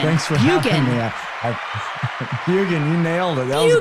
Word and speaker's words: Bjugan: Bjugan. Thanks for having me. Bjugan, you nailed it.